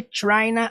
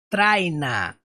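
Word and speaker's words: tryna: que você pronuncia isso não é traina por isso que eu coloquei um tch por quê Porque o som do T é mais forte é Trina é esse esse som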